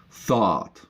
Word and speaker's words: thought: Thought is basically though with a T at the end. Why are they pronounced this way? It's outside of the grammar rules. You're just gonna learn these. Thought.